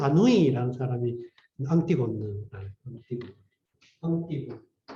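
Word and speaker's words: Antigone: 그리고 이 프랑스의 현대 작가 중에 지금은 물론 죽었지만 장 아누이라는 사람이 앙티곤느, 앙티곤. 프랑스 말로 발음해가지고 앙티곤.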